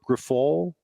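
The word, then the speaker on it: Grifol: Pedro Griffol? I don't even know how to pronounce his name, John.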